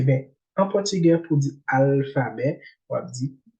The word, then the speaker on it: alfabeto: Après, L, ça, il n'est pas prononcé tant L, il est prononcé tant que W. L, ça, qui après A, il est prononcé tant que W. On va dire alphabeto. On va dire alphabeto, on dit alphabeto.